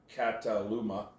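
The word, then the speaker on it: κατάλυμα: means Greek 2647, and it tells you how to say it. That Kataluma is how they say it.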